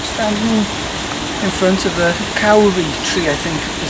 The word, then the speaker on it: kauri: I'm standing in front of the kauri tree, I think is how you pronounce it, and it's quite an important tree